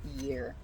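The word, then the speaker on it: Jera: It's pronounced literally year.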